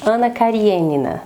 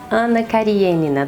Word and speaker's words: Anna Kariênina: de continuar o vídeo na verdade eu sei que a pronúncia correta não é essa mas eu vou tratar aqui como anna karenina nessa pronúncia abrasileirada porque eu já me acostumei s nome já se fixou assim a minha cabeça então é mais fácil do que ficar pronunciando que adora de uma maneira ponto primeiro vocês sabem